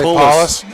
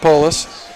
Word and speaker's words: Polis: I knew I was going to say Paulus. It's pronounced Polis.